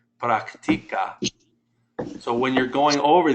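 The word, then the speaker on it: práctica: Brian, it would go on the I, because the rule is when a word ends in a vowel or an N or an S, the natural stress is on the second to last syllable, which is the I.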